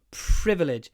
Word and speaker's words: privilege: 10 years a privilege privilege it's one of these words with PR when it's a PR word try to add a lot of a between the p and the r privilege blow privilege it's